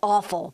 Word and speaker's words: offal: would you eat it it sounds a lot like the word awful but it's spelled differently waffle might horrify you